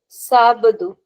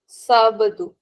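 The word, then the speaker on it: sábado: Sabadu Sabadu. Why Sabadu? Because there's an accent on a on the first R. So we have to take care of the accent. We say Sabadu and Sunday is Domingo.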